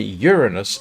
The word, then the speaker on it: Uranus: But apparently Uranus is actually the correct pronunciation.